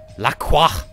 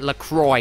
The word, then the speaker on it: LaCroix: their argument is now we're gonna pronounce it Lacroix because we're American and we can decide how to pronounce because it's our brand name we'll call them or